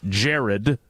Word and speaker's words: Jeriad: It's spelled I-A-D. So that's a conversation for another day. It's not. It's we've. It's Jeriad. Jeriad. But it's pronounced Jared.